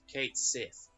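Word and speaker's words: Cait Sith: I do, but yes, it's not pronounced as English word cat, it's Kate, like the name Kate. And it's not Sith, because it's not double E. It's a single I being Sith, so Kate Sith.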